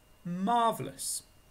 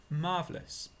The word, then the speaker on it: marvellous: memory for English vocabulary number three is a very good one in fact it's marvellous marvellous two sounds listen again marvelous that's marvelous marvelous the weather today is